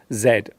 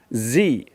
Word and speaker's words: zed: In British English, we usually call this the letter Z. In American English, this letter is pronounced Z, which can cause some confusion for those looking at the alphabet in other countries.